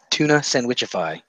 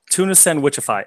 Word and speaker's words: Tunafishsandwichify: Tunafishsandwichify. Tunafishsandwichify.